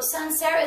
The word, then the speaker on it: Sancerre: So let me just make sure that I'm saying it correctly. So this is from a region that's called Sancerre. Is that right? This is correct. Sancerre. And it's also, so Sancerre